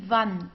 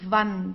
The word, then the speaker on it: Wand: W, okay, we pronounce it as V, die Wand, die Wand. Okay, so we don't have something like in English like w, like wall. We don't have this. We say Wand, v, okay, Wand.